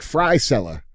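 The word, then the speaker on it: Frisella: M like fry seller.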